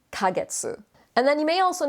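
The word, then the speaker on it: ヶ月: it's got the kaneka you know that it's not katakana ke because it's small and it's pronounced kagetsu and then you may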